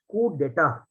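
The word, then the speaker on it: coup d'état: and the fourth option the pronunciation is code data okay the pronunciation is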